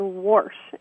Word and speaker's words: wash: they're from tucon and instead of saying wash it's spelled w they say the word wassh and they use it in all different context the washing machine washer